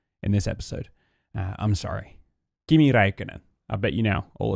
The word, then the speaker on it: Kimi Räikkönen: Kimi Räikkönen.